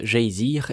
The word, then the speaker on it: Geysir: Le geyser, mot que les Islandais prononcent geysir et qui signifie fureur, s'élève majestueusement à son extrémité.